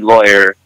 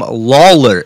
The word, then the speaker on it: Lawler: I'm in trouble um it's not a lawyer it's Tom Lawler it's Lawler not lawyer Lawler yeah Tom Lawler law no oh sh